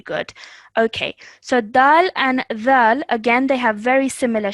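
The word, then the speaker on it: ذال: this is pronounced as dhal. Yeah. Yeah? Zal. Okay, so you're going to take the tip of your tongue and put it to the back of your top teeth. Dhal.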